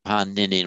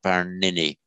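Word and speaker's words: Pāṇini: that in modern Hindi, the retroflex n tends now not to be pronounced as retroflex. That modern Hindu tends to say panini, not paranini.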